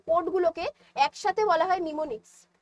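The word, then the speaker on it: mnemonics: হয় তাদেরকে কি বলা হয় তাদেরকে বলা হয় নিমোনিক্স নিমোনিক্স এর ইংলিশ স্পেলিংটা তোমরা দেখে রাখো বানানটা দেখো এম দিয়ে শুরু হচ্ছে এম দিয়ে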